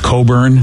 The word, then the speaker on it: Cockburn: I think it's actually pronounced Coburn for a lot of people. Oh, probably. Yeah. How is it? Yeah. Well, it's not spelled that way, BJ. Yeah, yeah. I know it's not spelled that way. I think there was a John Coburn, a musician, but it's spelled like Cockburn, if I'm not mistaken.